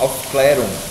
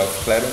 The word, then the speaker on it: Aufklärung: ele chama esse texto de eu não vou pronunciar corretamente, mas no final ele fala do Aufklärung. Ele quer saber o que é Aufklärung, que é um termo alemão que significa iluminismo,